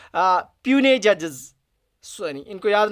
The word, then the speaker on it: puisne: में उस टाइम 2 प्यूने जजेस, सॉरी इनको याद ना, प्रोनाउंसिएशन क्या है, PUISNE, इसको बोलते हैं प्यूनी, एनी, प्यूनी, तो प्रोनाउंसिएशन इसकी है प्यूनी जजेस जो उस टाइम अपॉइंट किए गए।